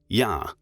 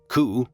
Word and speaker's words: yakuza: by drawing the cards eight nine three pronounced respectively in japanese ya which comes from yatsu and which means eight ku which means nine and za a deformation of san which means three from then on the expression